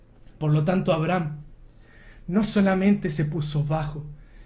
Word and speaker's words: Abraham: Abraham le puso una H. Una H mudita, que ni siquiera se pronuncia.